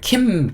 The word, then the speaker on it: Kim: 제일 처음에 김 씨인데요 김씨들은 보통 어 아까 김치 할 때랑 마찬가지로 쥐를 잘 안 쓰고요 KL 많이 씁니다 예 그래서 킴 킴 이렇게 우리가 통 많이 불리기 때문에 KL 써요 그리고 아는